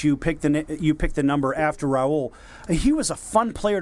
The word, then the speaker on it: Raul Mondesi: Yes, of course, Raul.